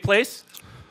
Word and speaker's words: Place: And Dave Place, bass, rhymes with place.